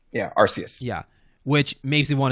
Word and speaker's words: Arceus: part um but it yeah it is like arus arceus yeah arceus yeah which makes me want to say icarus